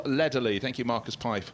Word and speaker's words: Lederle: Spelt to me Neville Ledderle, but Neville Lederley.